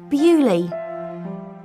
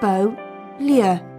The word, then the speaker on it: Beaulieu: in England but beerley is a French word in English we say bewley but in French it's Beau Lia beautiful place thank you